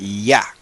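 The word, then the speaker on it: יה: Ok, eso todos los judíos saben, los rabinos saben, y lo dicen que eso se pronuncia ya, ya. Ok, Y, en español sería Y-A-H, ya.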